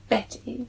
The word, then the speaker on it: Bette: Is it Betty or Bet? Betty. Betty, okay. So it's spelt Bette. So it should be Bet, but it's Betty Davis.